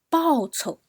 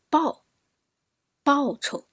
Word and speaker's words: 报酬: The second one, 报酬 So 报酬. So the 酬 is very light, quick.